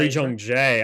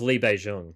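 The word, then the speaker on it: Lee Jung-jae: How about you say Li Zhongjae? I thought it was Li Beijing, but Li Zhongjae.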